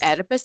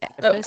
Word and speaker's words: Oedipus: It's Oedipus. That O is silent. It's Oedipus.